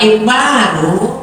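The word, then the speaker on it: إكبار: Wa ikbaru bikasril hamzati ismun min asma'il haid. Kalau dibacanya ikbar, hamzahnya kasrah, nama diantara nama haid.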